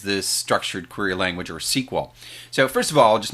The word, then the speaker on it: SQL: quick point about it we typically shorten this to write it to the letters SQL but we tend to want to pronounce it as SQL so I kind of did my best job here to phonetically write that out but it is the